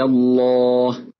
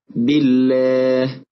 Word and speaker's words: الله: نلاحظ أن اللام في لفظ الجلالة جاءت مفخمة، ولكن استمع ولاحظ نطق اللام في الأمثلة الآتية: بالله، قل اللهم، في دين الله، وينجي الله. لعلك لاحظت أن لام لفظ الجلالة جاءت مرققة.